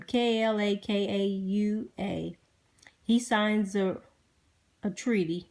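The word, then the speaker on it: Kalākaua: to anybody so in 1975 King I and pronounce his name ka la ka ua he signs a treaty r ECI PR OC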